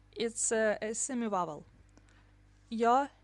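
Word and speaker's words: ё: e is a semi-vowel yo is always stressed the dots are omitted in most written and printed texts which means that yo looks exactly like yeah but the distinction must be made in speech the dots are indicated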